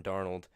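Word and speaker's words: Darnold: and Matt Stafford on Monday Night Football Sam darn 'old yes I know I said it right this time Sam Donald not Josh Rosen that I was thinking of last week Sam darn 'old although his first play of the game was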